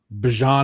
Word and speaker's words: Bijan: Got the Bijan is apparently how Bijan wants his name pronounced in the NFL, so we'll go with that.